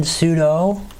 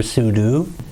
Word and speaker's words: sudo: would just type in sudo sudo means that you are going in as a pseudo root user except pseudo spell different but it's kind of pronounced the same way some people prefer sudo semantics i think either